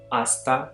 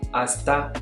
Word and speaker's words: hasta: You can also say hasta la vista, hasta la vista, hasta la vista, hasta la vista. Note here that the H is silent, and so instead of saying hasta, you say hasta la vista.